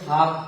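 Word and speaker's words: half: फिर से आप लोग इसको सुन लीजिए कि यदि एल के बाद एफ रहे, के रहे या एम रहे तो एल साइलेंट हो जाएगा। जैसे कि आप एच ए एल एफ लिखते हैं, इसको हाल्फ नहीं पढ़ के हाफ पढ़ते हैं, और हाफ का मतलब आधा होता है।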